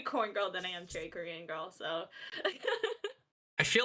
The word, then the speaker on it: cherrykrngirl: with other people like people would pronounce it corn instead so I got branded as Cherry corn girl instead of cherry Korean